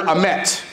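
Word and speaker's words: אמת: So the word for truth in Hebrew is the word amet. And amet is spelled Aleph Mem Tav. Now, there are a whole lot of things about that word that are interesting. One, it sounds, amet sounds like what? Amen.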